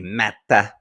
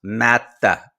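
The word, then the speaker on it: Määttä: a story on o Mata as he pronounced it by the way that's the proper there's a there's a pause Mata you have to pause in between the two syllables I made him pronounce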